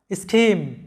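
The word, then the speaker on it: scheme: এরপর দেখো স্কিম, লক্ষ্য করো এখানে সিএইচ এর উচ্চারণটা ক এর মতো হচ্ছে, এস সি এইচ ই এম ই, স্কিম।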